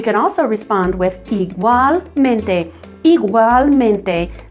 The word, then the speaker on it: igualmente: Igualmente sounds kind of like an iguana, but we get this igual and then mente.